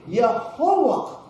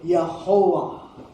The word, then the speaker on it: Jehovah: ang pronunciation yan eh Yahova or ' ba Y can be also pronounced as J and W can be pronounced as V. So magiging Jehovah so far so good.